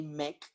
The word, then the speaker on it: MEC: And some people try to correct me when they pronounce it like in India or in China or in other country, but I say MEC because I like how it sounds, and I teach people